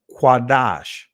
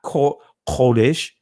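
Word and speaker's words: קודש: I would say lashan quadash, right? Not kodesh, right? Quadash, right? When you hear that kodesh, that is a what you call it? Now I can't think of the term now. Anyway, I can't think of the term, but that is of a slang Yiddish. That's Yiddish, right?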